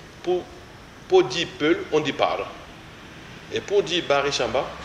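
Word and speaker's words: Paare: dire peul, on dit Par. Et pour dire Baré Chamba ou Laka, on dit Par. Et ça s'écrit P-A-A-R-E. Donc le coup de glotte arrive au niveau du premier A.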